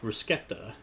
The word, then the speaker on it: bruschetta: about bruschetta is that it's actually pronounced bruschetta without an H in it. The H we kind of added in America here.